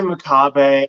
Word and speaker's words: Makabe: always want to say maab so like how do you say your last name just for for reference uh I say maab I I've had you